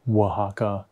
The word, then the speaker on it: Oaxaca: pronounce it because otherwise i would have really butchered it so oaxaca is how you're supposed to pronounce it and